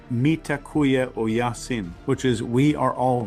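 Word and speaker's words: Mitakuye Oyasin: In ancient Native American wisdom, uh they have a phrase that's I think pronounced mitakuya o yasin, which is we are all relatives.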